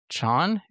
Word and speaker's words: Chan: The Chinese pronunciation, Yvonne Chan, okay. yeah, is Jan.